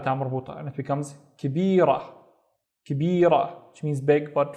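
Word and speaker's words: كبيرة: Then I would add a ta marbuta, and it becomes kibira, kibira, which means big but feminine. طيب, let's look at this word. The first syllable is ki, and then tab, kitab, and kitab is a book.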